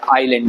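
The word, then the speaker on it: island: इसको आइसलैंड लिखेंगे ठीक तो आई एस तो एस साइलेंट है आइलैंड बोलेंगे बोलेंगे आइलैंड ठीक है आइलैंड तो आइलैंड है और डी साइल नहीं है आइलैंड बोलेंगे आप आइलैंड ठीक है तो इसलिए आइसलैंड नहीं होगा ये तो याद रखिएगा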